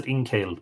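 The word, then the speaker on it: Ingcél: said in kale and I'm gonna pronounce a teen kale because it's got the father on the e they were soaked in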